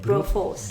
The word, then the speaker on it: Broforce: Broforce. Brute force. Bro, like a bro.